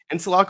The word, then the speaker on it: Insalaco: I pronounce it right is it in solaco is that right and solaco is right my first name is